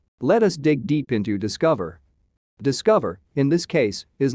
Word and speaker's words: DSCVR: video today we will talk about discover not spelt in the way it is pronounced discover is what we